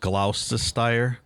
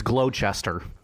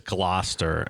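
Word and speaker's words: Gloucester: Ian, are you sure that's not pronounced Glausire? How is it pronounced? It's glow. It's glowester. Final answer. I I believe it's Glouester and the guy the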